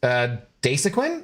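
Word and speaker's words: Dasuquin: I saw a commercial for that junk and it's actually pronounced Dasequin.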